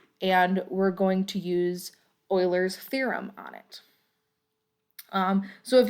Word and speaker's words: Euler: So when it is Euler, okay, it's not gonna Okay, and that is pronounced correctly. It's Euler.